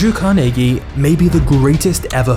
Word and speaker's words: Carnegie: Andrew Carnegie was born in Scotland, which is the reason I'm saying Carnegie instead of Carnegie, because this is how the Scots actually pronounce it.